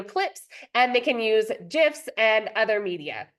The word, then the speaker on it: GIF: and they can use GIFs and other media it's actually pronounced GIFs just looked it up before to make sure uh the pronounce the the Creator calls it a gif so just begin making